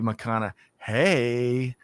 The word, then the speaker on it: McConaughey: the better half she's taught me how to pronounce his name correctly and is Matthew mcconaugh hey yeah I think I think I got that right there Greg White uh but so uh Matthew McConaughey and Erp who would have thought but Greg